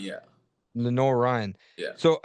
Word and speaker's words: Lenoir-Rhyne: Lenor Ren. Lenor Ryan. Yeah. Lenor Ryan.